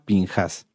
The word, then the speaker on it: Pinjás: significa boca de serpiente se puede leer ahorita se los voy a mostrar como pinjas también pero la pronunciación en cuanto a fonética sería pinjas este esta esta parashá